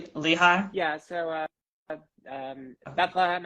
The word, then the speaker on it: Lehigh: you mentioned yeah eastern Pennsylvania it's um the Lehigh Valley that's what's called Lehigh yeah so uh um Bethlehem Allentown Easton if